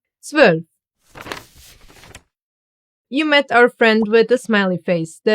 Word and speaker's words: zwölf: Together they get pronounced as oi, like in Europa, neu, or heute. Zwölf.